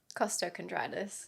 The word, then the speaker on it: costochondritis: Costochondritis.